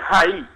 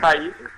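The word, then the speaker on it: Raí: En portugais, c'est Rai. Rai. Il faut mettre la tonique sur le i. Rai.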